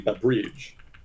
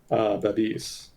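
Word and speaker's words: Babiš: I was pronouncing his name Babrij, which is not even remotely close. So it is apparently Babis.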